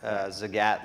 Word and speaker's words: Zagat: pronouncing it right yeah it's very important as a GATT like Cat in the Hat that's that was like